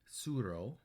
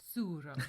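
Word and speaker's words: Tsuro: then we played um suro suro I think that's how you say it yeah um starts with a T if you're looking for it TS u r o yeah which we actually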